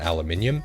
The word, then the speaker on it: aluminium: resources like rubber and aluminium that is how you pronounce it you